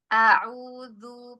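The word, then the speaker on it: أعوذ: A hamzahnya kemudian dibuka, fathahnya dibuka. Auzu pisahkan ee makhrajnya huruf hamzah dan ain ya.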